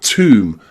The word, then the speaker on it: tomb: But 2 common words are womb and tomb, and they're pronounced with that oo.